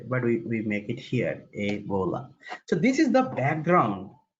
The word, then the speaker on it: Ebola: Even this rule applies to words like Ebola, where it is pronounced as a, then bola. It is not eb, o, and la. No, this is not the way, but we make it here, Ebola.